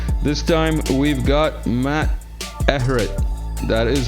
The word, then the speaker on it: Ehret: with another talk this time we've got Matt Everett that is how you pronounce it is that right Matt that that's